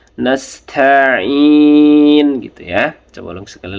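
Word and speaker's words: نستعين: Sinnya tipis saja. nastain gitu ya.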